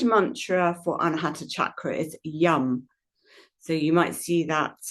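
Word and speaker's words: yam: So, the seed mantra for Anahata chakra is yum. So, you might see that um spelled y a m, but it it tends to be pronounced slightly like a u, so it's yum.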